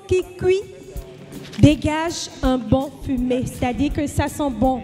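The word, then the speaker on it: fumet: Qui cuisait, C-U-I-S-A-I-T, dégageait, D-E-G-A-G-E-A-I-T, un bon fumé, F-U-M-E-T. Hein, c'est pas comme la fumée à son aigu E muet.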